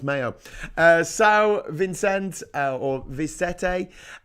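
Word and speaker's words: Maio: read uh Portuguese B Vista Fogo s Nicolo meow um oh sorry Mayo it's pronounced Mayo uh sa Vincent or vete uh s like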